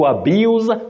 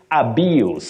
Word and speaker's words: abuse: Sam Oma of kissy when you use the verb you say abuse to abuse something or somebody but the noun you say abuse abuse with that sound s the verb Z AB abuse okay the noun abuse Peter and lual of Elder